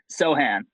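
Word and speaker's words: Sochan: Sohan. There it is. Okay, I had it right. Sohan. So could Sohan be a wild card here?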